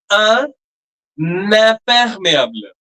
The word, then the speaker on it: imperméable: It will be un imperméable. That n sound will also come. In case of consonant, when the next word begins with a consonant, the n sound doesn't come at all.